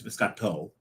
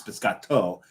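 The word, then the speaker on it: biscotto: So one of them is not a biscati. It's biscato. And you also because it's the male version of the biscati. No, it's no, it's always it's male. It's biscato. Biscati is plural.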